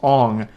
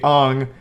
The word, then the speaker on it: Aang: And everyone already knows this, but his name's not Aang in the movie, it's Ong.